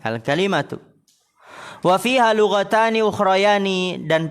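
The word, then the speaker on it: الْكَلِمَة: Perkataan penulis wal kalimatu hiya bi fathil kaf, dengan memfathahkan kaf al-ka, wa kasril lami, dan mengkasrokan lam al-kali, ya, al-kalimatu.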